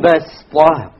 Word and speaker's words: بَسْطَةً: If you did, it's not a mistake, but it is preferred to say وَزَادَكُمْ فِي الْخَلْقِ بَسْطَةً. بَسْطَةً. Okay, so you don't pronounce it as a sad, you pronounce it as a sin, even though it is written as a sad.